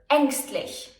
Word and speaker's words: ängstlich: It can be pronounced long, as in Käse, or short, as in ärgerlich or ängstlich.